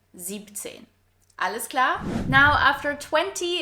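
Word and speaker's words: siebzehn: pay attention here because it's not 16 and 17, but 16, so without the S in 6, and 17 without the EN in 7. 17.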